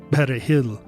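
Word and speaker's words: perejil: enters the story see in spanish parsley is called peregr and to pronounce the word properly you're supposed to slightly trill that letter r but in french the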